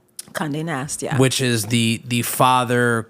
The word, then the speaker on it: Condé Nast: Madewell, Racked, Hearst, then on to, if I'm pronouncing it correctly, correct me if I'm wrong, Condé Nast? Condé Nast, yeah.